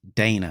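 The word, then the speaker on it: Daina: Um, so one uh uh one uh oh yes, Dana, it's spelled spelled even even funnier. D A I N A.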